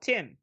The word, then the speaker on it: T1M: So we'll continue talking about Georgina Campbell because she's also in another movie that I watched called Tim. Really? This is T1M, but Tim is how it's said.